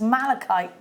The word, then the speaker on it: malachite: Tegwen in Gwynedd says, I mispronounce malachite too. Oh, apparently Lucy does. Yes, kite, not. Kite, not. Something else that rhymes with kite.